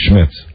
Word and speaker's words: Schmidt: Schmid yes we always we always put an S on the end of his name when there really was not an S no if why do we always say Max Schmitz cuz then I you